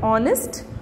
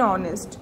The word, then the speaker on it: honest: होती है, जहाँ पर H is a silent alphabet, okay, like honest, O, it is starting from O sound, so we have to write down N honest, okay, like this, our,